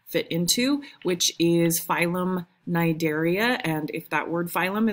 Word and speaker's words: Cnidaria: So they belong in this group called phylum Cnidaria. The C is silent because it's Greek.